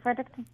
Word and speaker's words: Fredericton: How do you say Fredericton?